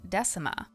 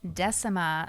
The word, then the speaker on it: Decima: from this achievement is how to pronounce Decima, which was pronounced in this quest by Branwen. Which, go figure, I'm probably mispronouncing their name. I find Decima sounds so much nicer than how I was reading it, which was Decima.